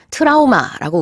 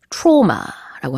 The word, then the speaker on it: trauma: 트라우마라고 우리는 발음을 하죠. 영어에서는요, trauma라고 합니다. 발음이 좀 달라요.